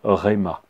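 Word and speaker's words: ῥῆμα: dire écrit en grec le mot parole se prononcent rema rayman est pas une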